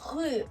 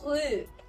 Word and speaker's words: rue: going to compare is the R sound here. So if we pronounce it here, this one is rue, which means street. This means street here, rue. As we already said, this one is a frictional one. Down our throat is rue, like here.